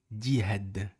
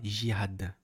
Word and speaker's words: jihad: la prononciation du mot dihad parce qu'on dit dihad, on dit pas jihad ou jihad. Ici c'est un dim, c'est pas J. On doit prononcer le D.